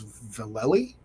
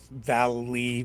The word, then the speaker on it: Vallely: I believe he confirmed that it was Vallely. Yeah, Valley, Valley.